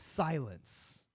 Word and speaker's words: Sylyn: And his name on here is Silence. Yeah. Silence. SYLYN. Silence, kind of. It's almost because it's almost spelled like silence from what's the game?